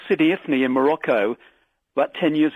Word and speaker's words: Sidi Ifni: I went to this place called Sidi Ifni in Morocco about 10 years ago.